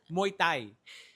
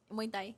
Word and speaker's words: Muay Thai: Muay Thai. How do you say it? Muay Thai.